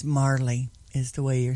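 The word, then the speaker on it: Majerle: The pronouncer says Marley. I'm going to go with Majorly.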